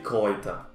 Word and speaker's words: Kräuter: Cuando una sílaba es con A, U y umlaut sobre la A, la pronunciación es OI.